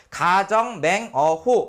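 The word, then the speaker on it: 苛政猛虎: 그래서 읽을 때 뭐라고 읽으면 되냐면 가정 맹 호 이렇게 되죠.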